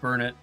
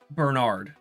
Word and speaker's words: Bernard: And she also mispronounced Burnett or No. Bernard. His name's Bernard and she reads it as Burnett.